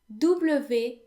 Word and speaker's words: Dublin: to here is that w is actually pronounced as if it were v in french and in fact the